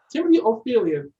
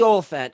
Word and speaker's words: Olyphant: Timothy Ophelia. I think that's how you pronounce his last name. Timothy Olyphant.